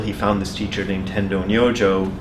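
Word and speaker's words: Tendō Nyojō: found this teacher named Tendo no Joe that's his pronunciation in Japanese it's not he's a Chinese guy and he pronounced his own name differently but it doesn't matter anyway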